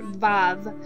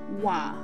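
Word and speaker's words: וָו: You will hear a lot of people who speak modern Hebrew pronounce this letter Vav, but keep in mind we're studying the biblical Hebrew, so we will say Wa.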